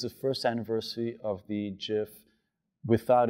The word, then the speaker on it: GIF: gonna get booze here G stands for gif say it together now soft G softer than my hands all right um when